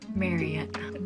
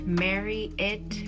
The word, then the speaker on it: Marriott: a hotel called Marriott, did you know that you're supposed to say marry it instead of Marriott? Because how do you say Elliot? Do you say Elliot or Elliot? Well, that's what they said. I watched this video and that's apparently how you say it correctly.